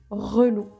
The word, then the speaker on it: relou: It may be tricky to pronounce, so we add i, and it becomes relou.